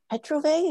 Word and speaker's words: Petrovay: Honored today to have David Petrovay. Is that pronounced correctly?